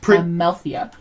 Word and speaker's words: Amalthea: Amalthea. Amalthea. Most other princesses have pronounceable names.